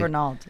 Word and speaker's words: Fernald: Katryn Fernald. Did I pronounce that correctly? Fernald, yep.